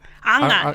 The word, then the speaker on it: Anga: Anga, yes. Anga. Anga is how you say it in Samoa.